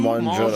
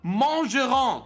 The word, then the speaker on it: mangerons: Nous mangerons. Guess how you spell mangerons? Well, it has a silent S at the end.